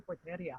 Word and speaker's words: Porteria: you know the pfl uh pt it's actually porteria oh really and then i got it all